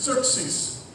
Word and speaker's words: Xerxes: And his name is Xerxes.